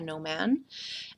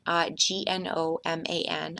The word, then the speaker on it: gnomon: is actually called a gnomon, Gnoman. I believe I'm pronouncing it correctly, though, again, with my humorous side, it doesn't work unless the G is silent and it's pronounced that way.